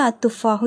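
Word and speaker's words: التفاح: நான் இங்க வந்து அத்துபாஹு யூஸ் பண்ணிருக்கேன். சோ அத்துபாஹு லதிதுன் அப்படின்னா அந்த ஆப்பில் சுவையானது அத்துபாஹு தா வந்து ஷம்சியோட எழுத்து அப்ப லாம் உச்சரிக்கப்படக்கூடாது அத்துஹு லததுன் சரிங்களா சோ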